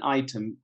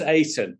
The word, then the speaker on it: Aiton: So the Journal of Brand Item, can you talk us a little bit about that? Yeah, you refer to my book. It's pronounced Aiton, the Journal Aiton, of Brand Aiton.